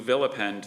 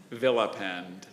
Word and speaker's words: vilipend: Kelly never votes for candidates who villipend their opponents instead of discussing the issues.